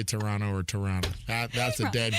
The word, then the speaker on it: Toronto: So it's like, I remember when I went to Toronto and I pronounced that last T, and I was hanging